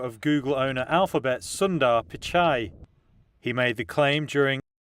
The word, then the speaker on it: Pichai: So our very, very first break time topic is Google CEO Sundar Pichai.